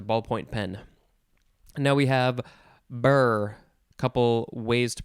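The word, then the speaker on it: birr: Now we have burr. Couple ways to pronounce it.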